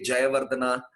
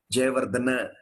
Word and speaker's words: Jayawardena: Actually, in their country, they don't call them Jayawardena, Sangakkara. They call them Jayawardena, Sangakkara. This is how they are called. So the A at the end of a word doesn't need to take the R sound as we usually have in the Indian languages.